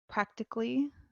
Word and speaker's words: practically: Practically, the A is not pronounced.